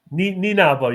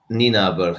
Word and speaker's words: Nienaber: You're looking at, right, okay, and I can't remember, how do you say his name? Jack Nienaber, the Leinster coach? Nienaber, you were close enough. Nienaber, him, he's saying how tight the league is.